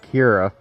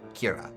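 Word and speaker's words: ceathair: But I do forget that Irish has a lot of uh uh Irish Gaelic has a lot of letters that you don't pronounce. So Kira.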